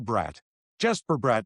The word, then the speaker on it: Bratt: It's like Jesper Bratt in New Jersey, and then Jesper Bratt and Jesper Bratt.